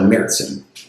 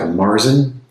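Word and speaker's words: Märzen: And also the Z sound in German is usually a TS type of sound.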